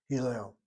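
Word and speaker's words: הלל: Accent is on the last syllable. Hillel.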